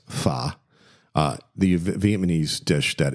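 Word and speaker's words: phở: rendition of what's called most people called it Fox but it's fa uh the Vietnamese dish that is just packed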